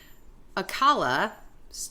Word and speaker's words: Alcala: Alcala, did I say it right?